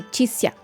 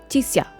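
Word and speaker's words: Chixia: And this is not supposed to be 2 syllables. It's supposed to be Tixia. Tixia.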